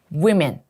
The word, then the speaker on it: women: 여자 단수 woman. 이거 지금 여자 복수죠. women.